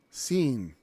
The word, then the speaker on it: Sin: just what it's called they spell it differently to help you out with it because it's not spelled sin either it's and actually that's a long e sound seen especially in the Hebrew if you look at